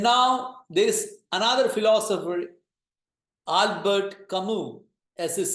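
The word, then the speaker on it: Albert Camus: two philosophers and now there is another philosopher Albert kamu as is silent Albert kamu he says belief in God and an afterlife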